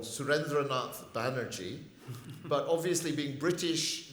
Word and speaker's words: Surendranath: an Indian sergeant called Surendranath Banerjee. But obviously, being British, they cannot pronounce names longer than one syllable. And so Surendranath is called Surrendernaut.